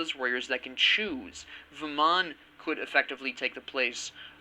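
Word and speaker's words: Vamana: Vaman could effectively take the place of, or Vaman as they pronounce it, Vaman can take the place of a hunter.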